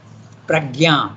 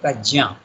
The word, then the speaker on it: Prajna: In our Indian languages it is Yajna, we say. Pragya, we say. But actually the name is Sanskrit, you have to pronounce it Prajna.